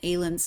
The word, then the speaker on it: Aylun: And Aylun is how I'm pronouncing it, but how do you? That is correct.